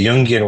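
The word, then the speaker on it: Jungian: a Yungian oriented institution and I say Yungian with a hard G because if I say Yunian people think I work with electricians and nurses and other people in unions. Um, and the reality is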